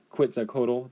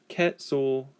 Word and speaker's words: Quetzalcoatl: So I'm going to try to pronounce this a little bit better. Quetzalcoatl doesn't sound right. Quetzalcoatl. Quetzalcoatl. Quetzalcoatl. That one's a tough one.